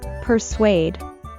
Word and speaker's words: persuade: reason to do it although the word seems like a three-syllable word it's actually pronounced with only two syllables persuade in the end